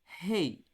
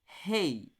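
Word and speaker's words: ה: era cultural Ou seja a gente vai pronunciar com a garganta mas dessa vez cuidado não é um som raspado desse jeito não pronuncie Rei mas sem raspar na sua garganta apenas o som do vento saindo pela sua boca assim hey hey hey traz a ideia do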